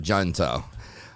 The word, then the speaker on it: Junto: So he's in our junto, or junto. Nobody really knows exactly how to say it, but I think the books say it's junto because, it was started by Benjamin Franklin and had a little Latin flair to it, and I think that's why it's called junto.